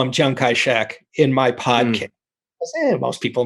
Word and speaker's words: Chiang Kai-shek: big guy on the block was another guy shankarachik or how do you pronounce it and how do you see it's